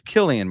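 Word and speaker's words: Cillian: you know and and he um okay it's Killian Murphy right kilan Murphy he pronounced his first name okay he's dude he's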